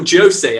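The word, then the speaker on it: José: By Portuguese author, she's educated, Jose Saramago, or Jose, actually, they say in Portugal, not Jose. Jose is Spanish, it would be Spanish. Jose, you pronounce the J in Portuguese.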